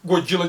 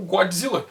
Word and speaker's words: Godzilla: Então eles olharam para aquela palavra, Godzilla, mas acharam que o D fazia parte da primeira sílaba e não da segunda, e começaram a pronunciar como Godzilla. O surgimento da pronúncia Godzilla foi um acidente de transcrição.